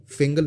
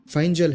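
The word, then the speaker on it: Fengal: का था और इन्होंने इसको फिंगल नाम दिया है लेकिन इसका एक्चुअल प्रोनंसिएशन फाइन जल है बट आप न्यूज़ में इसको फिंगल ही सुनोगे क्योंकि ये थोड़ा प्रोनाउंस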